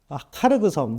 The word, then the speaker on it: 카르그섬: 그리고 또 함께 나오는 것이 카르그섬. 이걸 하르그섬이라고도 하는데 두 개 다 발음이 정확하다고 하더라고요.